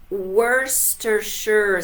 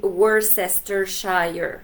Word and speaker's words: Worcestershire: Mais Worcestershire, c'est vraiment la bonne façon de le prononcer. Nous autres, on disait aussi Worcestershire, hein, parce qu'on se disait, bon, ça doit être quelque chose de même.